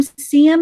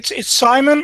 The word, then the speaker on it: Sim: It's actually Simon originally, but then shortened to Sim. So it's a very short E, which you don't have in English. It sounds like an E to you, but it's an E and a very short one.